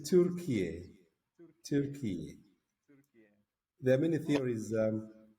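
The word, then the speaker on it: Türkiye: What is the right way? It is Turkiye.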